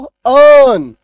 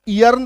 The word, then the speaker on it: earn: ठीक है, से ई ए आर एन क्या पढ़ते हैं हम लोग? इसको अर्न। ई का कोई काम नहीं, इसको ईयर्न तो नहीं पढ़ना है।